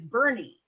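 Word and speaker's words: Boerne: dealership there and it's it's actually how you pronounce it is bernie but it's b-o-e-r-n-e and you're like how do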